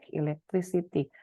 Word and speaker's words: electricity: pada bunyinya gitu ya, seperti elektrik ya, keh akhirnya, tapi ketika ketambahan iti jadi electricity ya, ada perubahan dari keh menjadi es gitu ya.